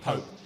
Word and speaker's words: Pope: An Italian has asked, how do you pronounce Nick Pope? It is not Pop. You don't say Pop, you say Nick Pope.